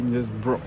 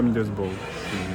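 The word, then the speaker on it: Middlesbrough: Alors j'ai regardé on dit Midas Bro. M Bro, on dit pas Mosb juste nul en prononciation anglaise.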